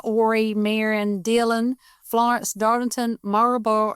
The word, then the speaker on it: Horry: So, and we're in Horry County. It's spelled Horry. The H is silent. You do not say it. So it's Horry County.